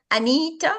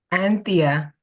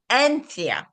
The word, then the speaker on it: Anthea: And Anita or Anith? Anthea. Anthea.